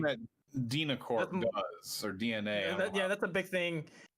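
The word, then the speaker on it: DeNA: Yeah, that was a huge thing in Final Fantasy Record Keeper as well, which is made by Dina. Evil people. Yeah, DNA. Actually, I think it's pronounced DNA.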